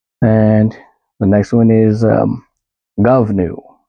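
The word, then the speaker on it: Goibniu: And the next one is Govnu, spelled G-O-I-B-N-I-U. Pronounced Govnu.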